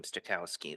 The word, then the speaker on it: Stokowski: Stokowski, that's it.